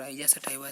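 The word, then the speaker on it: Oryza sativa: धान का है, औरिजया सैटिवाट। मतलब इसका उच्चारण अलग होता है, और आइजा सटाइवा सा है।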